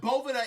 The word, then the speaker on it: Boveda: Now, before we even get started, Boveda, but I'm going to say what I always been saying, Boveda, but Boveda is the correct way to pronounce it.